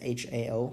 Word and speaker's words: Hao: In order to help you pronounce my name, you can pronounce this Hao as Hao and as. And this is the closest pronunciation to my Chinese name.